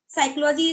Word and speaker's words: psychology: classes like if I talk about the P psychology is p silent to it means I I